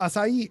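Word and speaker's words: açaí: A fruit whose name is pronounced in 3 syllables. A fruit. Don't know that. Acai. Acai.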